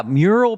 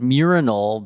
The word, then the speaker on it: mural: Yeah, mural being pronounced as murinal became a big, that was a big writer's room bit, I think, that we were excited about for the show.